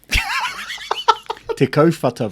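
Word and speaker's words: Te Kauwhata: is supposed to be te kawara so um it's a place up in um sort of north of north hamilton yep um so the the proper maori name is tikko te kaufata bro so uh yeah tikka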